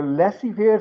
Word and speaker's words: laissez-faire: In a laissez-faire system is the system where in an economy, laissez-faire economy is that economy. This is a French word. Is Z is silent. Laissez-faire.